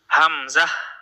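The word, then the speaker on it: همزة: হামজাহ হামজাহ হামজাহ হামজাহ হা গলার নিচে যে অংশটুকু রয়েছে সেখানে হাতও রাখতে পারেন হাত রেখে আপনি খেয়াল করবেন যে এই অংশটুকু কাপে কিনা যদি কাপে তাহলে বুঝবেন যে আপনার উচ্চারণটা শুদ্ধ হয়ে গিয়েছে হামজা হামজাহ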